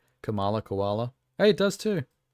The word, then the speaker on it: Kamala: um his candy Kink you like her because your name rhymes with koala Kamala koala hey it does